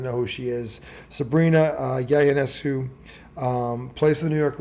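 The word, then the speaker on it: Ionescu: She's going to be taking on New York Liberty guard Sabrina, and it's a I but pronounced with a Y. Yenesu guard, 5'11".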